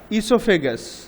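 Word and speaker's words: oesophagus: The mouth, food পাইপকে আমরা ইসোফেগাস, OESO, ইসো, ওটা silent আছে, ইসো PHA, ফে, GUS, গাস, ইসোফেগাস, ফুড পাইপকে এসোফেগাসও বলা হয়।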